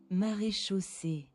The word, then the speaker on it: Maréchaussée: Maréchaussée. Yeah. I just mispronounced the CH.